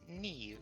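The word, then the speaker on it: Niamh: Probably going to go follow after So it's pronounced ne but it's spelled like nam.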